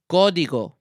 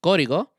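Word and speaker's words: Código: you cannot pronounce uh repeat after me is pronounced gigo gigo godigo godigo uh which is Spanish for um code basically if it's hard to pronounce with me Cody go think of it this way Cody go spoiler alert right here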